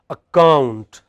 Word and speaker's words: account: Account, account.